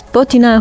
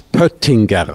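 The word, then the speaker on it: Pöttinger: and poer who is potina who is buttinger so it's difficult because uh we use one um one letter that is not really common in international languages uh but the right pronunciation is peringer this is the name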